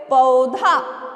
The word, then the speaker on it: पौधा: बन गया पौ से, पौधा। क्या बना, पौधा नहीं बोलते हैं बच्चों इसको, पौधा, ठीक है। मात्रा के अनुसार ही तो हमें उच्चारण करना होगा, नहीं तो फिर वो गलत हो जाता है, पौधा।